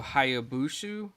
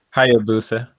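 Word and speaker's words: Hayabusa: to transform themselves into ryu hayabushu hopefully i said that right the protagonist yep there you go i knew i said it wrong he said can you say it again hi abusa i think okay all right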